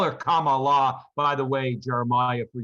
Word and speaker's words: Kamala: other people call her kamala kamala kama kamala i've heard people chastise because they don't say her name like comma like the comma like the punctuation mark so i just very